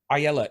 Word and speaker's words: Ayelet: about doing things to be the hero right Ayala did I say it right this time yeah